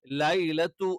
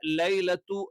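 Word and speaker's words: ليلة: എന്ത് ചെയ്യണം ദീർഘിപ്പിക്കണം ഖദർ ഇവിടെയും നമ്മൾ എന്ത് ചെയ്യണം ലൈലത്തു എന്ന് കറക്റ്റ് ആയിട്ട് പറയണം കാരണം അറബിയിൽ ഞാൻ പറഞ്ഞു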